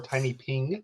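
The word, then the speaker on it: TinyPNG: And so there's this website called Tiny PNG or Tiny Ping if you pronounce the word.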